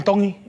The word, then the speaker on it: Tongi: My name is Iam Tongi, and I'm from Ian Donkey Kahuku, Hawaii. Iam Dong. Tongi. You pronounce the T's like a D in the Tongan culture. Dong.